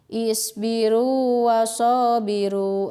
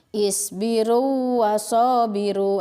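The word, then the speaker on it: اصبروا وصابروا: Nah, kalau yang ini tidak diidghamkan, tapi seperti biasa saja dibaca mad tabi'i ya gitu. Contohnya cara membacanya seperti ini. Isbiru wasabiru. Nah, itu ya. Isbiru wasabiru. Itu cara membacanya seperti itu. Tetap aja di mad tabi'ikan, tidak digabungkan ke waw yang kedua gitu ya. Pengucapan yang salah seperti ini. Isbiru wasabiru. Nah, itu salah gitu ya.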